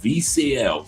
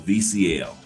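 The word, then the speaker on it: Vieciel: But it's called VCL. V I E C I E L. VCL. That's how it's pronounced.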